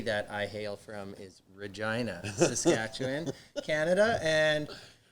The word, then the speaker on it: Regina: And you guys are from a place that sounds like Vagina?